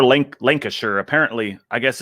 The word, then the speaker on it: Lancashire: Oh my God, I got roasted so bad, and I was like, Lancastershire. I now know how to say it, or Lancashire.